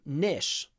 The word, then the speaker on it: niche: be filled niches uh I think Americans sometimes call them Nish Nish nishes but in British English it's definitely Nish with an E niches plenty of niches